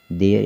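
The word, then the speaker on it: there: तो देखिए देयर यहाँ लिखा हुआ है, तो देखिए देयर किस तरह से पढ़ा जाएगा, टी एच से क्या हो गया, दा हो गया यहाँ पर। ठीक है, टी एच से क्या हो गया, दा हो गया, और इस पर ए की मात्रा लगा दिए। क्यों लगा दिए, क्योंकि हमें ई आर ई को एयर से पढ़ना है।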